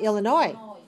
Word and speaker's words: Illinois: How about Illinois? Illinois. Illinois. 3 syllables. Stress the third. Watch me. Illinois. Illinois. Right? That's 3, 3.